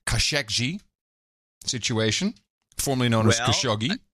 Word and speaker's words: Khashoggi: I like it too, but our dude named Muhammad did send me a note and said the official pronunciation is Khashoggi.